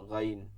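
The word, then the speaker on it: غين: গ উচ্চারণ ঠিকই হবে। কিন্তু মধ্যে কি করতে হবে? ঘসতে হবে। গাইন গাইন।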